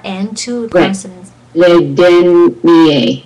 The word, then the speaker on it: dernier: Le dernier. I don't hear the R. Oh. Dernier. Yes, perfect.